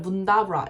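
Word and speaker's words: Mundubbera: 저는 문다브라라는 지역을 갖고 문두버라인데 외국인들은 문다브라 이렇게 발음해요.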